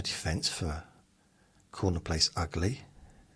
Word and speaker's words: Ugley: In Essex, there's a place called Ugly, but it's spelled Augley.